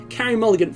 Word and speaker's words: Carey Mulligan: to uh Carey Mulligan I believe that's pronounced Carrie Mulligan for carrying this episode's